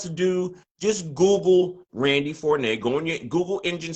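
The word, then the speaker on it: Forné: know what else to do just google randy fornay go in your google engine search and type in r-a-n-d-i-e randy randy fournette f-o-r-n-e with an ego over the ends pronounced four nay and uh google that and there you go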